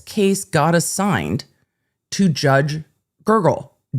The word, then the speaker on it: Gergel: But this case got assigned to Judge Gergel, Gergel. I don't know how else you would pronounce that. I would try to go with Gergel, but it's Gergel. It's just, that's how it's spelled.